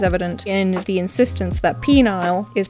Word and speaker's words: Penile: Last time we explored the town of Penile, or Penile, as it should be pronounced, in Kentucky, and it was very quickly my most watched video.